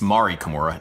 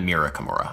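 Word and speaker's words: Mari Kimura: everybody in the audience it's Mari Kamura not Mira Kamura I learned her name wrong as I Was preparing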